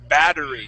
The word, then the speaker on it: battery: in the chat box look at the Double T how would we pronounce that word battery good battery so instead of saying battery we a battery okay battery with with D sound yes with the D sound okay now this last